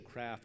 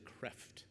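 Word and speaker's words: Cræft: True Meaning of Traditional Craft. That's C-R-A-E-F-T. And he suggests now that we pronounce it creft as opposed to craft.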